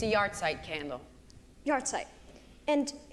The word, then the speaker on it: yahrzeit: It's a yahrzeit candle.